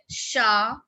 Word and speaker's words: chat: The last consonant in a word is not pronounced. Like chat, petit, raison, tabac.